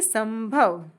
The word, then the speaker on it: संभव: यहां प्रोनाउंसिएशन न आएगा क्योंकि इसका नेक्स्ट लेटर है भ और जो कि प वर्ग के अंतर्गत आता है। इसलिए हम यहां बोलेंगे संभव।